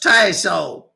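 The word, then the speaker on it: Tasohl: It's pronounced tao. It's French.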